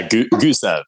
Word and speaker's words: Gusev: labs and i'm super excited to have gustaf am i pronouncing that last name correctly yeah gooseb gotcha gusev i've actually never said your